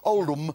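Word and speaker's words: Oldham: Oldm. It It's not It's pronounced old, but it's actually spelled old ham.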